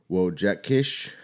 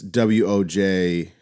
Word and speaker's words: Wojciech: Music by Burkhard Dalwitz, Philip Glass, Wojciech Kilar. That name's definitely didn't say it right. Yeah. I bet you were close. It's Wojciech.